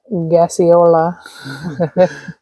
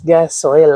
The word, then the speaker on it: Gasoila: There he goes with what he calls gaseola. What do you call it? Thought it was gaseola. I think it's gasoila. I don't know. Gaseola sounds cooler. So what are you doing? You've been letting me say it wrong all along.